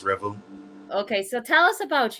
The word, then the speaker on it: R3vel: so uh you said Revel right this is pronounced Revel okay so tell us about you um there's